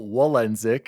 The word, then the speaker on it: Walendzik: oh hello Daddy D Wally here AKA Daniel wenck is how you pronounce the last name yes I am Polish